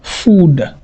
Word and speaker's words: food: Tandis qu'ici, on va dire food, food, food.